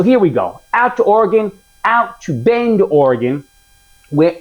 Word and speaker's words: Oregon: I say it wrong. I was saying Oregon. Apparently that is not correct that it's just Oregon.